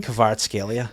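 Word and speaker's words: Kvaratskhelia: How do you pronounce that guy's name? Kavar Scalia.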